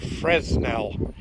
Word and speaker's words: Fresnel: Now, for those of you who don't know what a Fresnel lens is, that's spelled F-R-E-S-N-E-L, like Fresnel, but it's Fresnel. It's a French name.